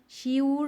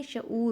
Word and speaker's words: شعور: اس کے بعد ہے شعور, تو شور نہیں ہوتا, شیور نہیں ہوتا, بلکہ شعور ہوتا ہے.